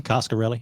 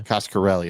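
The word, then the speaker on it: Coscarelli: directed the fantasm movies is that how you say his name costarelli yeah costarelli okay Dario Argento Paco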